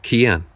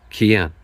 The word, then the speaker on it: Cian: So how do you pronounce this name up here? That's Cian. Cian. Cian is an Irish boy's name, and it means the ancient one or enduring one.